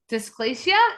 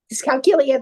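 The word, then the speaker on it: dyscalculia: her journey with dysplacia. Did I say it right? Discalculia.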